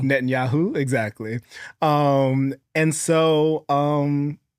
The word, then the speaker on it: Netanyahu: The president of Israel, Netanyahu. Netanyahu. Netanyahu.